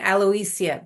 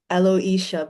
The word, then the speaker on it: Aloisia: Um, so I say it Aloia Beauty, but maybe just because of my accent that that's how I pronounce it. Okay. Alo Aloisha Beauty.